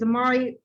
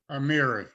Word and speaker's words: Amiri: movement writers such as amari how was that pronounced amiri amiri nikki giovanni wanda coleman